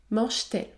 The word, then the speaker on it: mange-t-elle: ou encore mange-t-elle mange-t-elle le T se prononce t mange-t-elle 8è cas la liaison